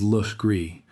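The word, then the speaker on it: Legaré: Legares, spelled precisely as the original French, is pronounced in Charleston to this day as Luch Gree.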